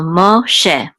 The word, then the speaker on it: Moshe: And so this is a shin, and this is a segol, which says e, and this hey is silent, so this will be just she. So mo she.